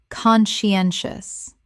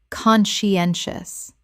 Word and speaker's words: conscientious: Conscientious. Correct pronunciation. Conscientious. 4 syllables with the stress on the third, meaning thorough and careful.